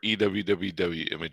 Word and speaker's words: EWWW: you say it shane it's either you image optimizer or ewwwwww okay i'll go for